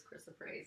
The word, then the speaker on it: chrysoprase: So chrysoprase. Am I saying that right? Yes, you are saying it right.